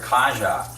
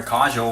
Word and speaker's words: Kajel: I used to call her Kaja and then you know I started calling her Kajel when she told me that her name was Kajel that the people she let